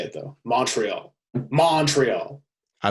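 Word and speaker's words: Montréal: Montreal. I say it like Montreal. It's all one word.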